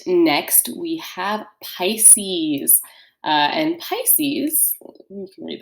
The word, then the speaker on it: Pisces: So Pisces in Latin would be pronounced pisces, and this means the fish.